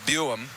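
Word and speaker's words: Buium: Zeve Buum. Is that how I pronounce it? Boy. Boyam. B U I M.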